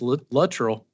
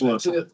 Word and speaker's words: Luttrell: So I think I pronounced this one wrong a couple times, but I believe it's Luttrell. It is Luttrell.